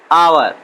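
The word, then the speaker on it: hour: Since, sorry for एन आवर। देखिए वहां पे आवर जो आया है वह यच यहाँ पे साइलेंट है और इसको आवर पढ़ा जाता है।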